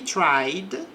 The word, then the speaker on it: tried: O exemplo aqui diz, he tried, então aqui não pronuncia o E do passado, nesse caso, tried to cheat, trapacear, on the test, na prova.